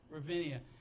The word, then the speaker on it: Ravinia: Ravinia.